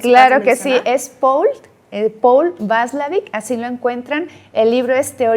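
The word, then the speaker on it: Watzlawick: Este psicólogo lo van a encontrar, si ustedes lo buscan, se escribe P-A-U, es Paul, y Václavic con W, con W, Václavic.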